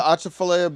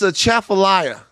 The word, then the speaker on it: Atchafalaya: Bitch, it's a chafalaya. Oh. Okay? And you know that. God. Oh, like, That was I want to do a category favorite mispronunciation of the year. It's yeah. a Chafalaya. It's the Chafalaya Basin.